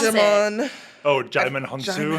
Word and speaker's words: Djimon: pronounce it. Djimon. Oh, Djimon Hounsou. Djimon.